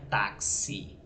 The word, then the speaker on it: táxi: você não pronuncia Itachi se pronuncia táxi com som de KS logo você vai ter